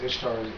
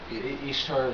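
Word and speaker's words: Ishtar: some people say is isar Easter isar it's kind of hard to pronounce uh sounds like Easter that's where Easter came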